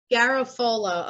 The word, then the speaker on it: Garofolo: Yes, it's Garofolo, not with an A at the end. Like you had. No. Oh, so boy. It's exactly as it's spelled. It's Garofolo. Garofolo.